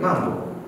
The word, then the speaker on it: Mambo: He says Mambo in the most African stereotypical way possible. And I'm like, you don't say it like that. So I think, Mambo. Try Mambo. Mambo. You've said it. Yeah. Swahili isn't about over-emphasizing how... It's not like Korean where you have to sound Korean.